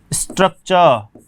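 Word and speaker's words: structure: तो कारण है कि जब भी ये जो टी आया है इसके बाद में जो भी वोवल आया है तो ट का उच्चारण च हो जाएगा।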